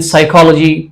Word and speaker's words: psychology: जैसे कि पहले एग्जाम्पल में K silent है, and in psychology P is silent, in com B is silent.